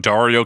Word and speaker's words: Dario: as cool as having a name that rhymes with Mario that's right we're talking about Dario ciato in 2000 such